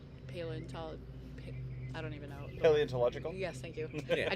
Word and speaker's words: paleontological: Paleontological? Yes, thank you. Yeah. I knew there were some extra syllables in there.